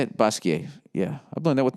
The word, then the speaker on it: Basquiat: Basquiat / Basquiat, is that how you say it? Basquiat. Yeah. I've learned that with my French studies. You don't pronounce the T unless there's an E after it.